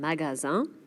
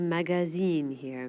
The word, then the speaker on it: magasin: Un magasin. Un...ma-ga-sin. You have to be careful NOT to do "magazine"here.